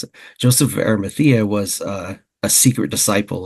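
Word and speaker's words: Arimathea: it and um it mentioned that Joseph of arthea that's how you pronounce it Joseph of arthea was a a secret disciple of Jesus so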